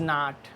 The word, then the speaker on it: know: उसके बाद क्या आया, उसके बाद आपका आया does not. He does not नो मी, एक के इसमें क्या होता है, साइलेंट होता है।